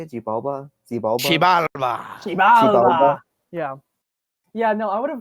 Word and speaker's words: Xibalba: Xibalba.